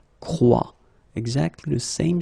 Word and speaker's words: croit: And phonetically here, as we saw, and is not pronounced, so you get the sound croix.